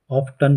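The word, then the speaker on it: often: दर्शकों, ऑफन को ऑफ्टन भी प्रोनाउंस किया जाता है।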